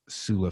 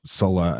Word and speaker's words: Sulla: to be Lucius Cornelius sulla Felix just Sola Sola or sulla Sola is gonna be the pronunciation you hear me say mostly okay so let's